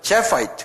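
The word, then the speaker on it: Japheth: 이거는 자펫이라고 그러는데요. 이 사람들, JAPHET. 똑같이 하거든. 제파이트 그런다고요. 뒤에다가 IH만 더 붙여요. 이렇게. 제파이트. 다 액센트가 앞에 있어요.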